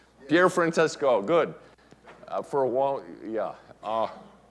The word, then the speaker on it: Pier Francesco: can say the whole name without, am I pronouncing it correctly? Yeah. Pier Francesco, good.